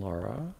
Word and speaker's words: Larratt: his name here devin laura it is devin how do you say it's devin laureate right laura l-a-r-r-a yes i knew his brother